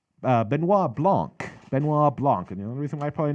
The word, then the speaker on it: Benoit Blanc: to pronounce his name Benoit Blanc Benoit Blanc and you know the reason why probably know how to remember how to pronounce it's because of Chris Benoit so rest in peace